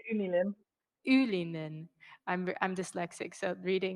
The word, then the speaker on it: Unilin: from the company in Ulin. Is that right? Yes. Ulu. How do you say it? You say Unilin.